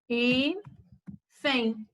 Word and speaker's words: hífen: Hífen. É uma palavra terminada em N e ela é acentuada. Ó. São duas sílabas, última, penúltima, e ela é uma palavra paroxítona, porque ela termina com N.